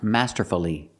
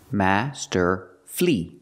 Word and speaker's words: masterfully: playing the guitar masterfully the word is not pronounced masterfully masterfully masterfully is not correct it's not four syllables we pronounce it with three syllables Master flee flee the last syllable is flee not fully but flee Master flee Master flee put the stress on the first and third syllable Master flee masterfully if